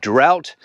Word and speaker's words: drought: it is the word drought d-r-o-u-g-h strange pronunciation of that word as we know doesn't really make sense and difficult for foreign people to learn but uh the word